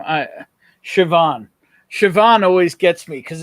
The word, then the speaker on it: Siobhan: that that name uh Siobhan Siobhan always gets me because it's spelled with a B it's like s-i-o-b-h-a-n it's Siobhan and I'm like I'm like